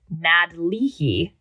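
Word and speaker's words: nádleehí: There was the Nadlihi. I practice pronunciations on these all morning, and I have here emphasis on the nad, even though me and my white ass wanted to emphasize the last word.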